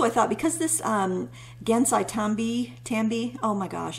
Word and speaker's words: Gansai Tambi: tambi oh my gosh i always mispronounce that gansai tambi watercolors i want it to rhyme i think that's a thing i feel like it should rhyme but it doesn't rhyme um because there's such